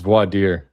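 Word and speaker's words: voir dire: How does the judge not know how to pronounce I don't even know how to pronounce that. Vader clan word. It's vadier.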